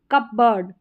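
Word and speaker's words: cupboard: Shepherd और कबर्ड। यहां पर कबर्ड। कबर्ड। यहां पर पी थोड़ा सा हल्का सा साइलेंटली बोला जाता है।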